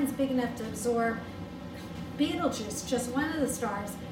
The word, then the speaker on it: Betelgeuse: and gave it a different meaning okay but beetlejuice is the name if you want me to spell it it's b e t e that's b